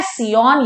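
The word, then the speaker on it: scion: और upper part of the grafted plant को हम क्या बोलते हैं, सियॉन या फिर सायान, जैसा भी आपको प्रोनाउंस करना आप कर सकते हो।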